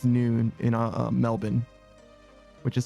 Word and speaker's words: Melbourne: But yeah, it's noon in Melbourne, which is spelled Melbourne, but it's pronounced Melbourne.